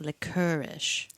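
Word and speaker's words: lickerish: e r um no it's spelled like l i c k e r i but pronounced licorish oh like fancy licorice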